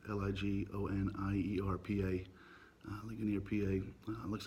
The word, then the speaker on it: Ligonier: I believe it's pronounced Ligonier, PA.